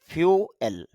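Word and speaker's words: fuel: তবে তার শুদ্ধ উচ্চারণ যেটা খেয়াল করেন ফ ইউ ফিউ আল ফিউয়েল এরকম উচ্চারণ হবে বা ফিউ আল এরকম উচ্চারণ হবে। যদিও আমরা ফুয়েল বলে থাকি।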